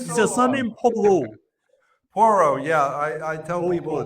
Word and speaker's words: Porro: Porro. Yeah, I tell people Porro. it's pronounced Porro or Zorro with a P.